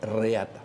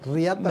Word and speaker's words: reata: de la reata ojo eh reata así se pronuncia pero se describe prun riata no no arranca la fiesta